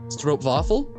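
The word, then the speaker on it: stroopwafel: don't know Dutch pronunciation I'm assuming that W's are a v sound like in German and double O is a long o sound right or oh I know don't pronounce the ooh like is like oh so it's stro stro vaffle is that or stro stro waffle or stro vaffle stro vaffle okay I did not know that because I assumed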